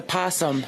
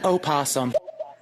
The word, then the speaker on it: opossum: rant here and it's a possum not an opossum oh see yeah there you go see the O is silent we're getting into North